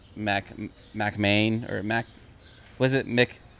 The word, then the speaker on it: McMahon: McMahon. I keep saying Mick Mahoon. Keep mixing it up, but I wanted to say it right for the podcast.